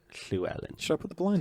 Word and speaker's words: Llewellyn: Llewellyn in my school. It's not pronounced that. Oh. It's called Llewellyn.